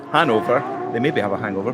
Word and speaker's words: Hanover: pronounced that wrong team from hang Hanover not hangover Hanover they maybe have a